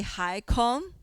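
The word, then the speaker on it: HYCOM: use this chance to correct you the pronunciation Here we usually say HY-COM, N-CODA So then...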